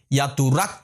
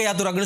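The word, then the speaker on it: යතුරක්: திறப்பு அல்லது சாவின்னு வச்சுக்கொள்வோமே ஒரு திறப்புக்கு நாங்க சொல்றது யாத்துரக் என்று சொல்றது எக்க யாதுரக்னு சொல்லக்கூடாது யாத்துரக் என்று சொல்லணும் சரிதானே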